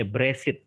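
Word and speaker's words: בראשית: bahasa Ibrani itu Gresik bereshit ada yang membacanya brasit gitu tetapi beres-beres it pada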